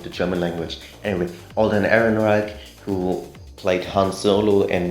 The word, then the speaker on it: Ehrenreich: sound in the english language uh it's then pronounced as a k so aaron reich which sounds just weird to me because i'm familiar with the german language anyway alden ehrenreich who played han solo in the solo star